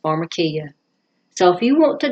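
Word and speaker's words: pharmakeia: poisoner, spellgiving potion and the word actually is pronounced pharmarmacia.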